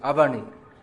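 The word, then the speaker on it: अवनि: In Hindi that's pronounced Avani.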